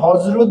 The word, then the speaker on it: হযরত: মূল বর্ণ বর্গীয় জ বা অন্তস্থ জ বা বানানে যদি বর্গীয় জ অন্তস্থ জ থাকে উচ্চারণে শুধু বর্গীয় জ হয়। যেমন হযরত বানানে দেখেন অন্তস্থীয় জ আছে কিন্তু উচ্চারণে বর্গীয় জ হয়ে গেছে।